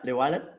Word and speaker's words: Llewellyn: if I please it, correct me if I'm pronouncing it, Charlie Llewellyn. Yeah, Llewellyn.